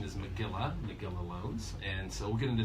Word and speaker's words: Magilla Loans: But the correct pronunciation is Magilla Loans.